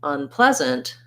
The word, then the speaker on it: unpleasant: again in an in and then when i add the unpleasant again this on is going to be very short and unpleasant so practice that by itself by saying the word pleasant unpleasant unpleasant so i do need a bit of a schwa there um i don't want